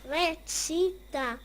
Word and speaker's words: recita: The real pronunciation is recita.